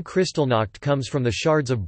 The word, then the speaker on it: Kristallnacht: Kristallnacht, German pronunciation, Kristallnacht, lit.